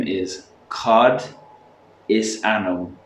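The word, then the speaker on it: ainm: cod is anum dit. Perfect. Anum like as in Adam, anum, No, anum. anum. But same as Adam, but with an yeah, N. Adam with an N.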